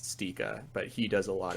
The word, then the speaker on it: ST1KA: ST1KA, I think it's pronounced Stika, but he does a lot of good stuff.